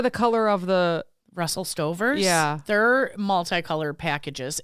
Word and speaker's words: Stover: But like, you know those Russell Stovers? Yeah. I don't know. The Russell ovens. Not Stofers, but Russell Stover, right?